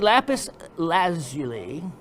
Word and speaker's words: lapis lazuli: number one battery you need question number three lapis lazuli as it's properly supposed to be pronounced has been determined to be a sulfur